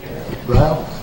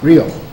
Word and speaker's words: Reel: How do you pronounce that? Dean Reel? Ryle? Dean Ryle? Reel.